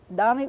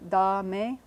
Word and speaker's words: dame: Accent on the first syllable, so we put our mark here. A vowel again, like in father. Dame. A like in cake. Dame un, U, long U type sound.